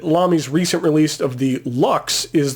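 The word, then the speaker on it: Lx: recent release of the Lux is the letters l and X but pronounced Lux I'm leaning towards all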